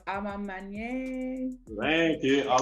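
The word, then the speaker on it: A Ma Maniére: And I can never pronounce it. Amani is a mint. I know it's Amamanye.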